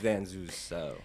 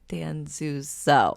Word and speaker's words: Danzuso: But no, it's Danzuso. Danzuso.